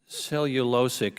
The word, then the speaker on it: cellulosic: Cellulosic is the correct pronunciation.